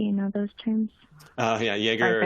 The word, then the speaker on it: Jaeger: I believe it's pronounced Jagger or Zipknight. Do you know those terms? Yeah, Jaeger or Zipkin.